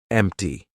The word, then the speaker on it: empty: But if a T comes after any other consonant, a lot of times it's going to be pronounced as the true T. For example, actor, doctor, empty. Okay, so we're going to be using the true T sound in those words.